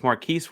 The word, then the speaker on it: Marquez: I think it's Marquise Warwick, is how you pronounce the first name, but Marquise Warwick. Yeah. Marquez, yes.